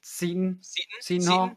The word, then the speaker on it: Seton: uh gawking about xavier is it satan or is it sutton um i've been saying seton i do believe that is the pronunciation and i also right